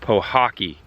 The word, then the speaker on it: Pahokee: It's called Pahokee. That's P-A-H-O-K-E-E, I believe. I could be pronouncing it wrong, but to me it's Pahokee. Could be Pahokee.